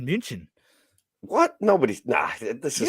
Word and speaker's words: München: States we say Munich. It's not called Munich in Munich. It's called München.